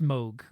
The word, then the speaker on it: Moog: Moog rhymes with Pogue.